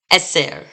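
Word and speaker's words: עשר: right moving on so the feminine form of 10 is Esser s and remember we're going to put the stress on that second to last syllable because of these segles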